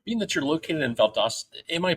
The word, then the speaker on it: Valdosta: Being that you're located in Valdosta, am I pronouncing it right? Valdosta, Valdosta, which is it? Valdosta works.